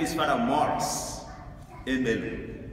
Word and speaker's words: Maurice: It's spelled as or pronounced in the French way. The American way would be Maurice, but my mom called me Maurice because that's the way the Brits pronounce it, and I have to